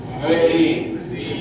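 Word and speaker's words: very: উপরে ঠোঁটটা টেনে ধরবে, দুজনে টাচ হলে হবে না কিন্তু, ঠিক আছে? ভেরিয়ার উচ্চারণ। উপরে এরকম নয়, ঠোঁটটাকে টেনে ধরো, হ্যাঁ এবার করো। ভেরি ভেরি ভেরি ভেরি, বুঝতে পেরেছি ব্যাপারটা?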